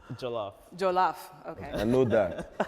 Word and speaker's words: Jollof: It's Jollof.